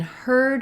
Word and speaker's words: heard: and hard is that in heard we have the ER sound and in hard we